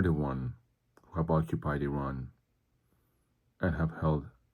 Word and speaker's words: Iran: And yes, that's how it's pronounced, Iran. E R O N that's the pronunciation like Enron the oil company.